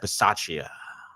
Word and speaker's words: Bisaccia: Rich Bisaccia. Bisaccia.